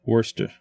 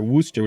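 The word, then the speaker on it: Worcester: is a little different Worster Worster Worster I'm sorry Worster no r no fresh wer in Massachusetts yeah Worster Massachusetts right okay so here's the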